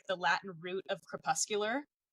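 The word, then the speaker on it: crepuscular: Okay, Camila, pronounce this word because I never can pronounce it. Kpuscular.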